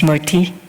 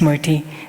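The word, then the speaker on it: स्मृति: The Sanskrit words is pronounced smriti. It's pronounced smriti.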